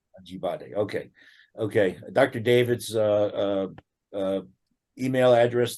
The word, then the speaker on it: Ajibade: Am I saying it right? Ajibade. 4 syllables. Ajibade. Ajibade.